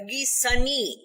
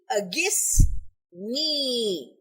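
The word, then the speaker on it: أغثني: a guess and knee it is mispronounced as a sunni this is not correct it should be ya ali agus me because the letters n i at the end me refers to the first person pronoun listen to my supplication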